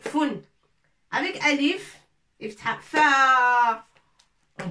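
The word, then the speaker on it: فٌ: Et là, tanwin, deux dhamma. Fun, avec nocta bien sûr, avec un point dessus. Fa, fou, fi, fun. Avec tanwin, tontako al-fa, fun. On prononce il y a 2 dma, ça s'appelle tanwin. Alors, on va la prononcer foun.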